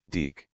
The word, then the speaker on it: DiC: My name is pronounced Deek.